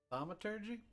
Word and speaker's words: thaumaturgy: How do you pronounce that? Thaumaturgy?